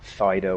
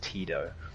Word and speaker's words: Tito: It's not Fido or Fido, it's Tito.